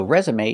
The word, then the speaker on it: resume: for a reason so resume is special because we pronounce the e at the end with the long a sound like day or pay resume so pronunciation your